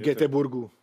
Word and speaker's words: Göteborg: Göteborg alebo Göteborg, alebo ako sa to vo Švédsku vyslovuje? Povedem, po našom, však sme Slováci. Göteborgu.